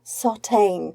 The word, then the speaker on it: Sartagne: hello everybody and hello to the wonderful Sarah sauteing Sarah have I pronounced your surname correctly that's brilliant it's so